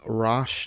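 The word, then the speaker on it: Roch: by a man called rosh Terio it's spelled r-o-c-h I'm gonna call him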